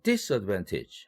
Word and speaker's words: disadvantage: disadvantage 이 경우도 이것이 disadvantage 하고서 this에 강세를 줄 때는 advantage와 대비할 때입니다.